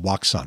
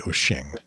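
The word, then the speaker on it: Wouxun: And by the way, I know I pronounced Waxon wrong. I know it's really Oxing.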